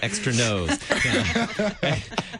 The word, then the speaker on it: Extra Nos: industry responding to extros which by the way is probably mispronounced by many when they're reading the name of it ex or extr no parents lament like from from the kids extra nose extra extra nose that's a different album